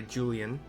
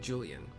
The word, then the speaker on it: Julyan: It's level 50, part of the Manderville line, given to us by Julyan, spelled Julya Nancy, if you were wondering, but I'm pronouncing it Julyan, who seems to be